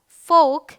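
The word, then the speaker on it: folk: All right, ये है chalk, walk, फोक, could, should, योक, ठीक है। चलिए, एम के उच्चारण के नियम में क्या है, एम का उच्चारण जो है म होता है, प्रिटी सिंपल।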